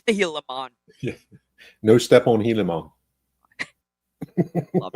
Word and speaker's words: Gilamon: they focus so much attention on get the pronunciation right it's the healon no step on heon love it oh that